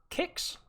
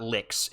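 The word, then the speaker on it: Kix: is not is not licks it is pronounced kicks with a k just to clarify educate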